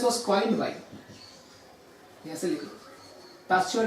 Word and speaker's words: Pasteur: Discovery of virus and the term virus was coined bye, ऐसे लिखो, पास्चर का नाम लिखो, पास्चर या पास्तूर. एक्चुअली इसका प्रोनाउंसिएशन इज पास्तूर.